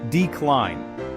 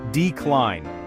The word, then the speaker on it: decline: Decline. The stress is on the second syllable. Repeat after me. Decline.